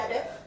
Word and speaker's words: Bedworth: something So there is somewhere in Bedworth, Better. Bedworth. That's the right way to say it.